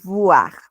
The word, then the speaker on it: voir: La OI suena como UA. Voir, voir. Y bueno, en este caso también tenemos la mezcla de la OI, por lo tanto esto se va a pronunciar como UA, pero tenemos una B, no una V, entonces esto es boire.